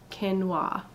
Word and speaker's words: quinoa: I got right here qu i n o a and the dictionary says it's pronounced ken wah so my parents picked